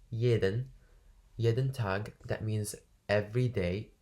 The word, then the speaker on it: jeden: Florian steht, so the S at the beginning is sh, steht jeden Tag, that means every day, jeden Tag. Jeden, the J is like ye, is like you can't pronounce it.